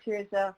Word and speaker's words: Tirzah: may i i'm not sure if i'm gonna pronounce your name i'm gonna try is it cheers uh hey okay great thank you cheers good i wanted to say your name and